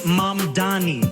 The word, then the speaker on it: Mamdani: And furthermore, the name is Mamdani. M-A-M-D-A-N-I. You should learn how to say it.